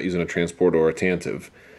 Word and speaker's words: Tantive: a transport or a tantive actually it's pronounced tan to v but i'm not ever